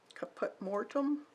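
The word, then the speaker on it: caput mortuum: one this is violet kaput mortum that's how you say it it's a nice kind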